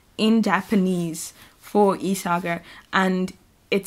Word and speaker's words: Isager: yeah, so they use Isager yarn, and in the book there's a phonetic pronunciation in Japanese for Isager, and it says Isaga, so I'm pretty sure that it's with a hard G, because if not, in